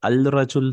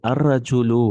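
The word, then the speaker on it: الرجل: You won't say al-rajul. No. Ra is a shamsi letter, half shamsi. So you say ar-rajulu waqifun.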